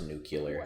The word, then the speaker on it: nuclear: would assume that it was like during it's pronounced nuclear oh where did we get the information that